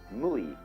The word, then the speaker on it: mui: In Japanese, Mui. I is Japanese of pronouncing the Chinese way.